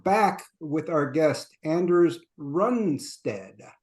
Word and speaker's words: Runestad: hello we are back with our guest Anders runstead correct correct correct pronunciation uh and I uh have briefly changed